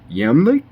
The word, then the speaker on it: Iamblichus: I think in Syriac, which I believe is Iamblichus's native language, I think his name was actually pronounced Yamlik.